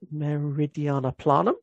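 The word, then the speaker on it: Meridiani Planum: Is that how you pronounce it? Meridiana Planum, yes.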